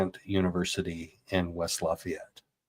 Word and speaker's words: Lafayette: So locals say Liet. It's two syllables. Lafayette.